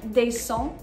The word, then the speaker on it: descend: these different patterns, je descends, tu descends, il, elle, iel, on descend. You'll notice that the final des, or just the final de, depending on which one you're saying, is not pronounced.